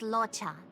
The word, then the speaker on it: Luocha: His name is Luocha. Oh yeah, that's how you pronounce his name.